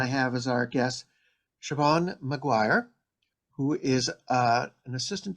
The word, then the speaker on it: Siobhan: It's an unusual spelling, but it's just very easy to pronounce, Siobhan.